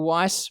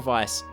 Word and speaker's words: Weisz: look, is it Raquel Weisz? Rachel Weisz? What? I don't know. Weisz? I believe it's Weisz? Rachel Weisz. Rachel Weisz. Yeah. Weiss, as in, like, because it's spelled like it's white in German.